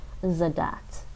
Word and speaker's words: задать: You don't want to pronounce it like the TCH in the word like catch in English. So when you say zadat, when you say this